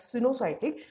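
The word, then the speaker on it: coenocytic: written as a coin or sciatic it is pronounced like synocytic so no cytic means what multinucleated that means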